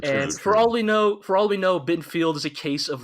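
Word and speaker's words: Bittenfeld: Yeah, no, sorry, that's Bittenfield. Rhymes with Garfield.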